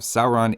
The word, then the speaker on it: Sauron: has the value of the English ow in town that's the first vowel of Sauron is like the English sour not sore that seems like pretty